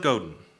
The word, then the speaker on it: Godin: got to evolve Seth Godin Godin I never know how to say his name what does it gotta go Godin thank you said on his blog